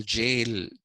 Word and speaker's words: gaol: The original spelling of jail, Jail, jail, the original spelling of that is Gaol, jail. Okay, in the medieval English, the ga sound doesn't exist.